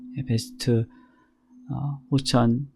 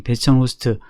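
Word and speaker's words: bastion host: 이거 같은 경우에는 그 라우터 하고 앞에 있었던 스크린 하는 라우터 하고 그 다음에 파이어월 하고 베스트 호스천 이게 발음이 베스천 호스트 파이어월하고를 함께 엮어서 하나의 파이어월 기능을 제공하게 해준 거예요.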